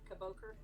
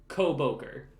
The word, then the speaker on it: Koboker: Kaboker? Koboker. Put the emphasis on the ko.